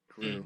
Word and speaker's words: Grewe: No, yeah, this guy is spelled Grewe. Okay. Gru. Mhm. There you go. I thought it was GRU. That's what I've been calling it. It's just like Gru.